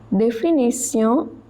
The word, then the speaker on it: définition: Définition, TION pronounced as sion.